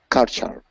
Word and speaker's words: card sharp: Just continue on okay don't say card sh do say card sharp card sharp card shark